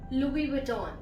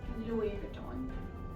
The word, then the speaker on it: Louis Vuitton: The next word is Louis Vuitton. Louis Vuitton. Not Louis Vuitton, Louis Vuitton. So this is basically a French company as it was named after the founder. So it's Louis Vuitton.